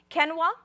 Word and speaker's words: quinoa: had the quinoa and if you are from Bolivia you pronounce it ken wah or then we have